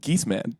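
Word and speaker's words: Geesman: How do you pronounce it? Geese Man. Geese Man.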